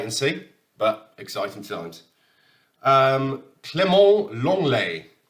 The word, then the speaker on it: Clément Lenglet: Clément Lenglet, as I've been informed, you pronounce it in French.